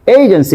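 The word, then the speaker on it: agency: খেয়াল করেন এটাকে আমরা কি বলবো এজেন্সি নট এজেন্সি এইজেন্সি কি বলবো এইজেন্সি খেয়াল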